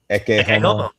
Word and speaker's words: Ecce Homo: Ecce Homo.